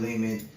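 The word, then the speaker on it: Lehman: So, um, go check Brandon Leman out.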